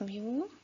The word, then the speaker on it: mu: So I will have a population mean and this is represented by another Greek letter which is pronounced mu m w mu and this is calculated as